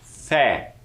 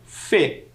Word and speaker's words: fé: É ele que vai permitir com que nós possamos falar essa sílaba de maneira aberta, fé, e não fê. São sílabas diferentes, não é mesmo? São sons diferentes, aliás.